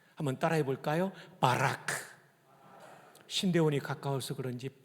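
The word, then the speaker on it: בָּרַךְ: 바라크. 한번 따라해 볼까요? 바라크. 신대원이 가까워서 그런지 발음이 거의 신대원 수준이십니다.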